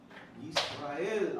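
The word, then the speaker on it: ישראל: Yisrael. Oh, you didn't finish, sorry. Yisrael. Israel. Right. And remember, people, everyone here, everyone online, it's not Yisrael. There is no yod in there.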